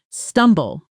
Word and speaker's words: stumble: stumble. The B is barely pronounced, almost silent, so it sounds more like stumble.